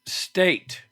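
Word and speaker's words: Stait: that but I didn't Brent State rhymes with Spate uh who plays Rick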